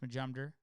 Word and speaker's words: Majumder: It's all pronounced Majumder, and that's it.